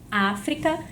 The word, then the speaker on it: África: Então, em África, eu conto aqui última, penúltima, antepenúltima sílaba. Certo, eu já sei que é uma proparoxítona, mas a nossa proposta